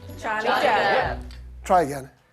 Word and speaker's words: Johnny: Johnny Depp. Someone said it right, I hear. His name is Jonny. Han heter Jonny. Okay? You know, I just kind of, I'm just, you know, removing the J sound and just, yeah.